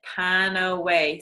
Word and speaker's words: PanAway: Panaway is, I always say to people, if you think of Panaway, think of how it's said Panaway. So it's more like kind of pain away, right?